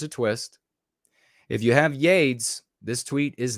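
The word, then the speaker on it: YeDS: Pronounced or spelled capital Y, lowercase e. You get it? Yay. Capital D, capital S. Pronounced Yades.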